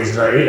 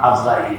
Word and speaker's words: ইজরাইল: এবারে আসল ব্যাটা হযরতে ইজরাইল আলাইহিস সালাম আমরা আজরাইল বলি বলতে সহজ আসলে সহি হল ইজরাইল ইসরাফিল মিকাল জিব্রাইল সব